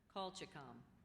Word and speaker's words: colchicum: Okay, the next word is colchicum, a plant, bulb, or flower of a genus of chiefly fall-blooming Old World herbs having modified underground stem bases and crocus-like flowers. Colchicum.